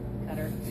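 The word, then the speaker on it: Qatar: scarves as long as I ignore the correct pronunciation which would turn out to be more telling get it cutter anyway we landed around midnight so my new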